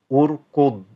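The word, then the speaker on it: اركض: This is one which is fairly difficult for many students to pronounce, simply because the dad, some teachers teach students to pronounce it and not really sound the word, and it sort of almost stays in the stomach, like urkud. So you're actually not pronouncing the word fully.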